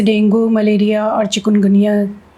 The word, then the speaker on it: डेंगी: Malaria तो बहुत दिनों से रहा भी है, लेकिन डेंगू को हम लोग डेंगी बोलते हैं, उसका प्रोनाउंसिएशन सही डेंगी है।